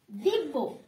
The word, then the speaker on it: দিব্য: ঠিক আছে, এখানে জ ফলাটা কি একটু ঊর্ধ্বভাবে উচ্চারণ করতে হবে এবং প্রত্যেকটা শব্দ ডাবল ভাবে উচ্চারণ হবে।